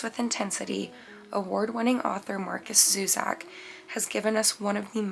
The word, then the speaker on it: Zusak: Zusak, I believe is how you pronounce that name.